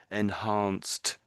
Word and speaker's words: enhanced: It's not quite that. It's enhanced.